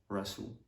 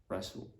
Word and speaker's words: wrestle: Yeah, so the letter W is normally silent when it comes before the letter R at the beginning of the word. So for example, right, right, wrong, ring, rap, wreck, wrestle, wrestle.